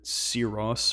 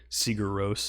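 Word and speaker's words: Sigur Rós: got sort of like a seros or siguros as it's spelled uh kind of style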